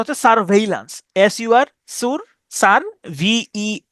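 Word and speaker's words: surveillance: ওকে এরপরে আসেন এটার উচ্চারণটা হচ্ছে স্যার ভেইলান্স।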